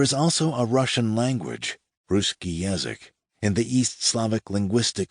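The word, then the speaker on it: russkii: Ruski, another form of the adjective rhymes with bruski, not husky, is an identity category.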